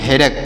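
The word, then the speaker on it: headache: क पढ़ेंगे यहां पर सी एच ई से पढ़ेंगे क तो इसे पढ़ेंगे हेडेक क्या पढ़ेंगे प्यारे बच्चों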